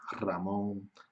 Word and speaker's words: Ramón: nombre propio ramón muchos nombres ramón ricardo porque son nombres propios que empiezan por l pero solo se escribe una al inicio de palabra pero el sonido del sonido sería doble ok el sonido es doble y también cuando cuando